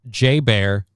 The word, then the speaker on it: JBR: The exchange shopping mall on the base, which is commonly known by the acronym JBR, pronounced J Bear.